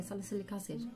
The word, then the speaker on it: salicylic acid: dumb thing one right silic salicylic acid so this is yeah salicylic acid yeah yeah that's how you pronounce it so this is